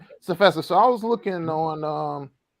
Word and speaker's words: CFESA: You said this, I think I'm pronouncing right. Is it CFESA? CFESA. Yeah. All right, CFESA.